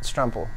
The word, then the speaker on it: Stremple: say your last name my name is strum pool what truffle Rumple yes sir okay